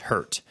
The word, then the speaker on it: HRT: Newman was a member of the FBI's hostage rescue team, or HRT, pronounced hurt.